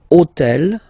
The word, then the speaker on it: hôtel: took on purpose this hôtel, okay, because it starts with h, but remember that in French we don't pronounce h. Okay, so basically the first sound of the word is the vowel o.